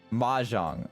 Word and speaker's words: Mahjong: Mahjong.